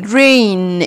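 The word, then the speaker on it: reign: طيب فترة حكم rain فترة حكم rain G silent G مش هنطقها.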